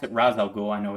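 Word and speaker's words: Ra's al Ghul: and then it's uh Raz al Ghul so we can go with that something something that's right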